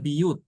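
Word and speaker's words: بيوت: Kalau kata buyut berarti dibacanya biyut ya.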